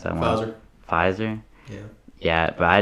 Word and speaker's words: Pfizer: How do you pronounce that one? Pfizer.